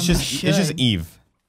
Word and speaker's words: Yves: Yeeves. Do you think anyone calls him Yeezy? No. I would. Damn, It's I just should. Eve. S is silent.